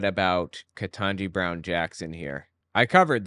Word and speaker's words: Ketanji: He's calling her Jumanji because her name's Ketanji, and Ketanji rhymes with Jumanji.